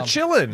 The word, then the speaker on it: Qilin: The Chillin. Yeah, which is spelled Qilin.